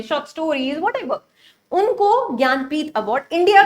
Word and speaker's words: ज्ञानपीठ: Next award हमारा है ज्ञानपथ, ठीक है, जनानीपथ या कुछ ऐसे प्रोनाउंस मत करना। This award is known as ज्ञानपीठ award, ठीक है।